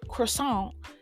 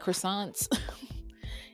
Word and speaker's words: croissant: like croissant croissant croissant you got to say it like the say like the French croissant we went to this